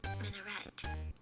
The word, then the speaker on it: minaret: subscribers and future Okay, so here's how it's pronounced. Minaret.